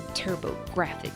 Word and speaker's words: TurboGrafx: This was made for the PC Engine home console, or as it's known in America, the TurboGrafx 16. Graphics is spelled GRA-FX for puns.